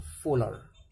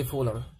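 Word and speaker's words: Wöhler: بس في واحد هدم النظرية ديت في سنة 1828 جه عالم اسمه فولر، او تنطقها فولر براحتك، يعني هي الاسم بالانجليش الاتش سايلنت، فبراحتك يعني اسمه فولر او فولر، شوف انت عايز تنطقها ازاي.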